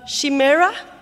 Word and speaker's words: chimera: The second one, the chimera. How do we pronounce it in English, chimera or chimera? Chimera, yeah. In France, it's chimère.